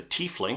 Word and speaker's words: Tiefling: There was Tyler Fling, but he goes by Ty, so that was Ty Fling, the Tiefling.